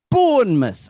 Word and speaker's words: Bournemouth: Bournemouth.